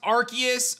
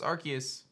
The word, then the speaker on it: Arceus: i do want to say guys it is pronounced arceus okay i know a lot of people don't